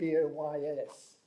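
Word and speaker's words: Buoyes: in the brighton report my name is about boys in the breiden report it's spelt b-u-o-y-e-s which is an interesting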